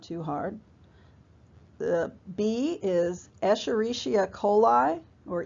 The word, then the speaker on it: Escherichia coli: The bee is Escherichia coli, or E. coli, but Escherichia, if somebody pronounces the whole thing.